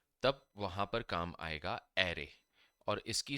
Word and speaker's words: array: तब वहां पर काम आएगा एरे और इसकी स्पेलिंग है ए आर आर ए वाई। इसको एरे कहा जाता है। अरे नहीं कहा जाता।